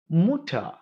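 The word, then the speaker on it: Mutter: இந்த எர் ஒரு சொல்லினுடைய ஒரு வார்த்தையினுடைய கடைசியில வந்துச்சு அப்படின்னா அத எர்னு வைப்ரேட் பண்ணாம அப்படின்னு விட்டணும். எடுத்துக்காட்டுக்கு புட்டார் பாட்டர் முட்டர்ன்னு சொல்லாம புட்டா பாட்டர் முட்டா இப்படி சொல்லி ஹவ உடன் நிறுத்திடணும்.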